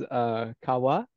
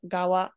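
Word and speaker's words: 側: This is Kawa, right? Sadly, it actually is not Kawa. It's actually still pronounced with the glottal stop, Gawa, even if it's not married. Gawa.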